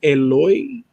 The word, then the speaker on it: Eloy: The correct original name without any, would be Eloy. Eloy. Dude, that's like, it's like perfect. Eloy.